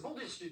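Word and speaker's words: Bandyrskyj: Bandirski, Ah, c'est Bandirski, tout simplement.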